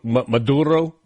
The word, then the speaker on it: Maduro: And Maduro. Maduro. Got a nice little subtle roll of the R in there.